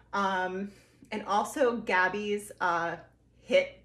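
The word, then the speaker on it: HIIT: and also gabby's uh hit the beach but it's spelled h-i-i-t the beach her program was awesome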